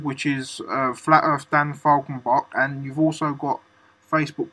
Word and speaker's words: Falkenbach: It's pronounced Falcon, the bird, Bach, the conductor, Falkenbach.